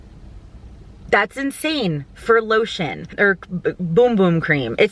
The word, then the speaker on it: Bum Bum: was like $45 that's insane for lotion or boom-boom cream it says bum bum but it literally pronounced boom boom just by the way but